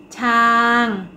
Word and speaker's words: ช้าง: ออก เสียง โพธิ์ มี คำ ว่า ช้าง เป็น อักษร ต่ำ ผัน ด้วย วรรณยุกต์ โท ดัง นั้น จะ ออก เสียง ตรี ค่า คำ ต่อ มา